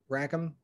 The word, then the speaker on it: Rackham: came out with rackham veil and am i pronouncing that name right rackham yep okay uh because i look at i